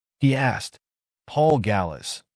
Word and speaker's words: Gallas: name he asked Paul Gallas g s like Dallas but spelled with a G ah here you are